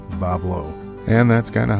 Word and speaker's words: Bois Blanc: but Islanders don't care they just ignore the spelling and casually say it their way Bob Lowe and that's kind of how it is on Bob Lowe Island they don't care